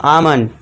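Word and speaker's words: almond: यदि ए और यू के बाद एल हो तो एल साइलेंट होगा।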